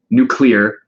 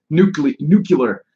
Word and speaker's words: nuclear: the fan movies about nuclear. Make sure I say it right. I always said it like George Bush. Nuclear. So I try really hard to say nuclear.